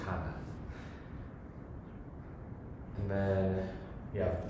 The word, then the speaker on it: Cana: Everywhere else, it's a hard C. So like wedding at Cana, for instance, Kana.